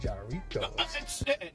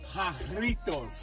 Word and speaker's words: Jarritos: Doritos. No. Well, no. You don't wanna say it right? It's called Jarritos.